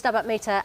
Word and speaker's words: Stabat Mater: Antonio's album, Rossini's Stabat Mater, and Alison's, did I pronounce that right?